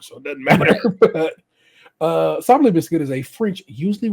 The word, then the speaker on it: sablé: How do you go about pronouncing them? In French, we would say sablé, sablé cookie. But it'd be fine in English to say sablé, sablé cookies.